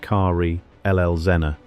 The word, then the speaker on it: Karl Elsener: This is the story of Karl Elsener, pronounced Karl Elsener, the son of a